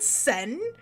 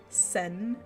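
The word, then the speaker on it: Seine: At the Sen is how you said it's pronounced, or something? Something like that.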